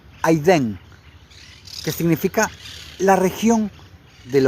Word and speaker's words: Edén: Y la palabra Edén en el hebreo es la palabra 5731 que que se escribe Edén, se pronuncia aidén, que significa la región del hogar de Adam.